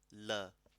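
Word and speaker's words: ਲ਼: So lala, la. But lele per bindi, la. Is you have to actually roll your tongue. So think of it like rara or nana.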